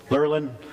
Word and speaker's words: Lerlin: they say that right lerlin Accent on the first syllable or so I was